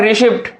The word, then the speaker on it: receipt: दूसरा लिखा हुआ है रिसिप्ट, RECEIPT, इसमें भी हमने बच्चे को बता रखा है इसमें क्या हुआ? साइलेंट है, तो इसमें भी हमारा क्या है? साइलेंट, पी साइलेंट है।